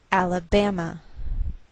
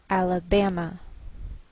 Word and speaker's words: Alabama: by a lowered Mark so the greater stress is on this third syllable we say Alabama Alabama what else is shared